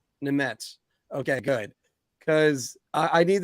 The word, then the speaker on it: Nemec: It's Simone Nemec. Nemec.